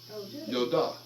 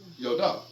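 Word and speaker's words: ידה: Yodah. Yodah. It means to worship with extended hands. And it's spelled with a yod, a dalet, and a hey.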